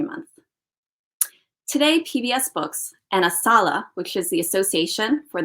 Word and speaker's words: ASALH: you i'd like to share some information about asala that's how we pronounce our acronym a s a l h